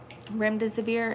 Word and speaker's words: Remdesivir: Remdesivir is how you say it.